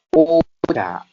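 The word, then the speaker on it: おちゃ: Nah, ocha di sini dia yang pertama ada huruf o, dan ini ada ci yang diberikan setelahnya ada huruf ya kecil ya minasan sehingga dibacanya ca. Jadi bukan cia namun dibacanya ca.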